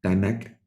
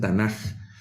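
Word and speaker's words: תנ״ך: Algunos pronuncian Tanaj por la forma en la que se pronuncia la última letra, que en hebreo es una kaf. Algunos la pronuncian como K y otros como J.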